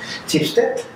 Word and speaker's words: Schibsted: Today we're having the data science director and the analytics director of Schibsted. Mm-hmm. I think I pronounced it correctly, yes.